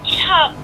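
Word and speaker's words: Tsup: Ah, so it is Chup. Gotcha. Okay, cool. Makes sense. Chup. Except all right. It's spelled T-S-U-P, so...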